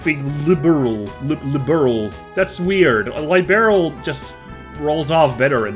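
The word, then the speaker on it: Liberl: Could you go to the general store and buy me a copy of the Liberal News? What? It's pronounced liberal.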